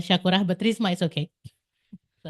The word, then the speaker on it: Syakurah: Like the how you pronounce it will be Risma Shakurah.